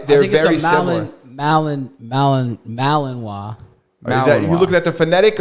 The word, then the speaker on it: Malinois: say it is it Malinois Malamute Mala Malamute is a different dog but the Belgian I think it's pronounced malavois Belgian malawa look it's that murder